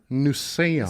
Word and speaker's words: Newsome: difficult to say how do you say it nusein same last name as kaelyn because sometimes that's